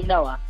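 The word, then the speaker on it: נח: We say Noah in Hebrew with the ch, but the Americans say Noah.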